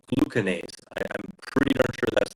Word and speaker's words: glucanase: The body in its intelligence, it starts secreting an enzyme called glucanase. I'm pretty darn sure that's the correct pronunciation.